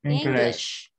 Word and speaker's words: English: If you cannot pronounce like English, it has to be rounded lips. If it's not, you sound like wish, like this. Is it wish. Clear? Yeah. This one, Holvin, we will have a rounded lips like wish. Yes. Because if your mouth is quite like flat or smiling, it doesn't pronounce correct. Correctly.